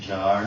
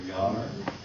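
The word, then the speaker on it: Jaar: I remember seeing reproductions from Alfredo, it's pronounced Jar or Yar, his Times Square piece where he showed the United States.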